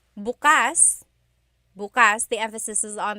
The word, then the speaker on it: bukas: pronunciation if you say buas buas the emphasis is on the second syllable that means open if you say buas buas emphasis is on the first syllable that means tomorrow very interesting like oh